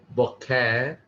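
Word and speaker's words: בֹּקֶר: boker, boker. The emphasis on the first syllable.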